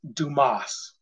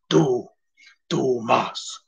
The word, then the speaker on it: Dumas: And author Alexander Dumas. Not to be confused with dumbass. It was the thick head root beer commercials. I'd love to be here working at Dumbass and Dumbass. It's pronounced Dumas. Dumas.